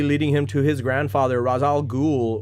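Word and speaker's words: Ra's al Ghul: him to his grandfather razal ghul or raj al-ghul however you want to pronounce it i think that's the correct pronunciation um raise as batman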